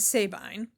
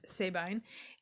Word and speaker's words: Sabine: It is Griffin and Sabine, or Sabine, but I believe I've always heard it pronounced Sabine in this context.